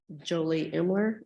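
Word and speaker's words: Jolie Imler: state your name for the record and please spell it Julie imler j-o-l-i-e-i-m-l-e-r all right state ment what do you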